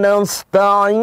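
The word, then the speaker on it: نستعين: Alamin iyyaka na'budu wa iyyaka nasta'in. Bedakan sekali lagi antara ain dengan a.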